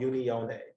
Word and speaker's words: unione: a painting mode called unione it's spelled u-n-i-o-n-e which is you know it sounds like union right unity and it's